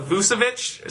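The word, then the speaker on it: Vučević: Also, for the Magic, Nikola Vucevic. Sorry if I butchered your name.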